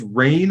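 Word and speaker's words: Rayne: I've talked about this card a few times rain Academy Chancellor going to add her to the deck it's spelled r-a-y-n-e she is a legendary Wizard who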